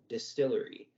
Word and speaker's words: DSTLRY: about a new Comics company called Distillery um it's spelled very oddly it feels like the